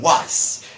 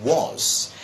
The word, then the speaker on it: was: because I can tell other people saying what well no it isn't it was and I keep repeating